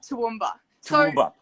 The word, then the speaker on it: Toowoomba: a town and help me out with the pronunciation here too yup toowoomba so jordan's from toowoomba but morgan is from